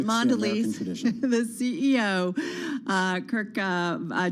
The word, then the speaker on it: Mondelez: ceos of so many of these different companies mondelez uh our team catching up did i say